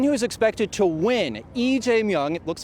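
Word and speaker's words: 이재명: The one who is expected to win, EJung. It looks like Lee in English. In South Korea, it's pronounced EJ Mong.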